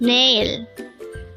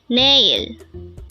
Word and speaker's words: 내일: male nail nail this pronounces a two-syllable word the first syllable is NE second syllable is ill pronounce it with me nail nail the Korean word